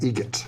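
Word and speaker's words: Eget: How do you say the name? Adam Egret. Egret. Spelt differently. Like the bird. That's Egret.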